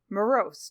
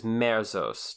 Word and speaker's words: merzost: actual magic and it is morose am i pronouncing that right jeff the word is merzost merzost right and merzost actually i